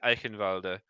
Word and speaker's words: Eichenwalde: Eichenwald, however you want to pronounce it, Yeah, it's like a W, but I guess it's pronounced with a V. I don't know. It is. Well, okay, so I speak German. Oh, fun and fact. there are several ways of saying it. But yeah, I think Eichenwalde is how I would say it. But do you pronounce the E at the end? Like a little bit.